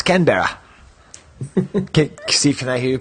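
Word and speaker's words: Canberra: that Steve no I did not yeah it's kber Steve can I hear you pronounce it with an Australian accent uh I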